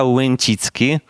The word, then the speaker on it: Łęcicki: you yes so my last name is wenchitki but you don't have to try to pronounce it and I am a software engineer